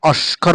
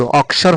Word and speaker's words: অক্ষর: শুদ্ধ করে পড়তে গিয়ে অস্কর বলে অস্কর উচ্চারণটা ভুল প্রথমে ক আসবে তারপর স আসবে অর এটা হচ্ছে শুদ্ধ অসর হচ্ছে শুদ্ধ আর অস্কর